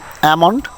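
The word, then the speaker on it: almond: অ্যামন্ড শব্দের অর্থ হচ্ছে বাদাম।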